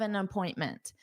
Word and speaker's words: an appointment: Notice that pronunciation an appointment. So an the article needs to combine with appointment. An appointment. So notice it sounds like the name Anna. Anna. Anna. But then you have to continue on.